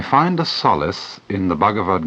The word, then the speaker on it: Bhagavad: In 1925, Mahatma Gandhi wrote the following words: "I find a solace in the Bhagavad Gita that I miss even in the Sermon on the Mount.